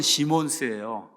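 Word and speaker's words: Simons: 자, 이런 와중에 누가 나오냐면 메노 시몬스, 우리나라 말로는 영어로는 시몬스예요. 근데 이제 이게 S를 발음하죠. 지저스. 근데 우리 예수 하듯이 S를 발음하지 않으니까 우리는 그냥 메노 시몬이라고 이렇게 이제 이야기하는데 원래 가톨릭 신부였어요.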